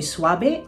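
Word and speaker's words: suave: Swabe. Tandaan natin na V is pronounced B.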